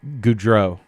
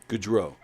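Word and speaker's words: Gaudreau: world how do you say his last name goodro goodro Johnny goodro um Johnny hockey yeah I was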